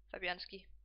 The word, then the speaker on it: Fabianski: How do you pronounce his name? Fabianski.